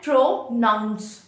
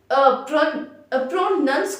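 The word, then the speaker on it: pronounce: तो देखो guys, it's like प्रोनंसिएशन, प्रोनंसिएशन एंड प्रोनाउंस। प्रोनाउंसिएशन नहीं होता है, इट्स प्रोनंसिएशन। एंड अगर हम प्रोनंस कुछ नहीं होता है, प्रोनाउंस होता है, ठीक है।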